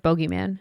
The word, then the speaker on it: bogeyman: y m a an I thought it was two o's like Boogie no it's like bogeyman bogeyman Boogeyman I think a lot